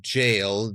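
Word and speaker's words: gaol: spelling of the word jail, G-A-O-L, or jailers that we hear mentioned a few times, it's an old English spelling of the word. It's pronounced jail, like J-A-I-L.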